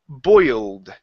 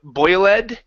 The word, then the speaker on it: boiled: go to the word boiled right here instead of boy led it's boiled boiled good so the